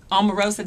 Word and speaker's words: Omarosa: If you have the chance to get rid of Omarosa, did I say it right?